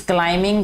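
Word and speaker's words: climbing: Sana is क्लाइंबिंग, क्लाइंबिंग, क्लाइंबिंग नहीं पढ़ना इसको मेरा बेटा, ठीक है, बी साइलेंट है। सना इज क्लाइंबिंग the mountain, he wrapped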